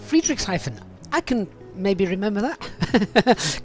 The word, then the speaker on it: Friedrichshafen: Barry, you pronounce it Friedrichshafen. Friedrichshafen.